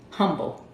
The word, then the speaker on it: Humble: I live in Humble, as they say out here. But I'm from Cali, so I'm gonna still say Humble. I'm gonna pronounce the H.